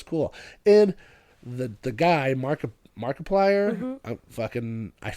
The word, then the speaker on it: Markiplier: They released it in like over a thousand theaters I want to say like and Markiplier is how you say Markiplier.